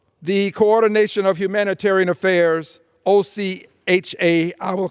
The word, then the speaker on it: OCHA: office for for the coordination of humanitarian Affairs OC ha I will pronounce it Ocha says as of early February